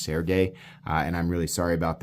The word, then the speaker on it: Sergey: It's very Serge Penchenko-y, or actually, people correct me. I think his name is actually pronounced Sergey, and I'm really sorry about that.